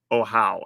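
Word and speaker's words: Ahau: there because I pronounced oh it's oh how that's how OIC oh how is how you say this all right so Sovereign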